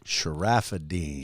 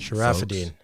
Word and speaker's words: Charafeddine: His name's Charafeddine. Is that how you pronounce it? Yes, sir. You nailed it. Charafeddine. Charafeddine.